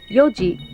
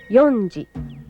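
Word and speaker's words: 四時: which is ichiji notice the pronunciation change using Yoji instead of yonji five is gochi goji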